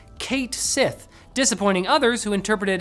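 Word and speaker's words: Cait Sith: sided with fans who pronounced it phonetically in English as Kate Sith dis appointing others who interpreted it as KET shei based on the name's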